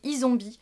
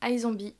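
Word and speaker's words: iZombie: en terme de série c'est isombie ou i zombie mais il me semble que ça se prononce i zombie une série voilà j'ai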